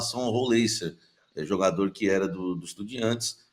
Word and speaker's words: Rollheiser: brasileiro de muitos anos, ele mandou um áudio para mim e falou: Roleiser, amigo. Que eu perguntei a pronúncia certa. Ele respondeu Não, o áudio assim: ó, foi Roleiser, top.